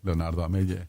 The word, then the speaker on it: Leonardo Amell: Perdón, Leonardo Amell.